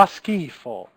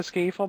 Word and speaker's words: schifo: Fa schifo. Okay, fa schifo with like a K. That the purpose of the H here. Okay, the purpose of the H is to make that C occur.